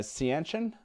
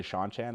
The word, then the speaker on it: Seanchan: that's a that's not a word that you pronunciate correctly at least i didn't i used to call them the uh c ancient i think is how i used to say